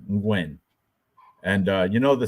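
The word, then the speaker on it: Nguyen: Gwyn that it's not nulan that's aw it's pronounced Gwyn Gwyn and uh you know the Ste you know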